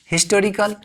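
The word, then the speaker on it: historical: इसका प्रोनाउंसिएशन है हिस्टोरिकल, यानी हिस्टोरिकल ह का उच्चारण दे रहा है, हिस्टोरिकल।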